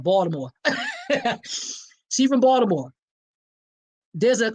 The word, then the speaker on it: Baltimore: You gotta say it like that, Baltimore.